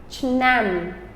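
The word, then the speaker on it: ឆ្នាំ: Year is CH, and then nam, chnam, chnam. Right? It's actually only one syllable, but chnam is the word year.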